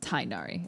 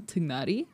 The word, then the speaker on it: Tignari: canonically in the game, his name is Tainari. And like, I understand that. But because I wish that they hadn't changed the pronunciation and I wish they had just kept it with the traditional pronunciation, Tignari.